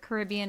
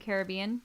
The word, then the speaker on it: Caribbean: don't have a Oh apparently both pronunciations are correct by the way Oh for Caribbean and Caribbean Oh No yes so